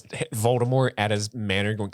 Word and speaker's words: Voldemort: I suppose there's more emphasis on the E. Nobody says it right. It's French.